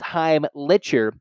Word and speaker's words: Heimlicher: from Penn Jake heimlicher looks like it says lick but it's Heim litcher unless Penn doesn't know